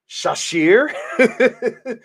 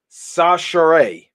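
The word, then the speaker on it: Chachere: At first, I thought it was Shashir, but apparently it's pronounced Sachere. Andre Sachere.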